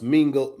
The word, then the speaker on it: Mingos: It's pronounced Mingo. It's pronounced Mingo's son.